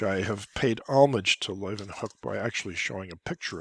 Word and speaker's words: Leeuwenhoek: Leeuwenhoek. Anton Leeuwenhoek.